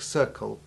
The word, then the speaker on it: circle: However, just as we saw and heard that the BL sound was different when it came in the word ending BLE, as in able or terrible, we now find exactly the same thing happening with CLE endings in words like circle and cycle.